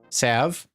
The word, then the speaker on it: salve: Like, I understand we take that L out and it's save, but come on, how stupid are we?